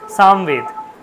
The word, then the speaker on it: সামবেদ: ঠিক আছে, আবার দেখুন আমি যদি বলি সামবেদ, সামবেদ বলি আমরা, কিন্তু আসলে সামবেদ তো নয়, আসলে হচ্ছে সামবেদ। আমরা আসলে উচ্চারণটাকে আমরা এমনভাবে তৈরি করে নিয়েছি সামবেদ, সামবেদ বলে কিছু নেই, সামবেদ।